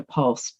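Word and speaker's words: POLST: care planning easier with the georgia pulse that's spelled p-o-l-s-t and it stands for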